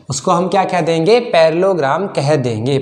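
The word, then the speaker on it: parallelogram: अच्छा कैसे प्रोनाउंस करोगे इसको, पैरालेलोग्राम कि पैरेललोग्राम? तो इसको देखो पैरेललोग्राम प्रोनाउंस करते हैं। ठीक है, पैरालेलोग्राम नहीं भूलने लग जाना, क्या बोलोगे इसको?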